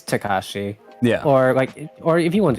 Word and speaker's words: Takashi: But it's Takashi.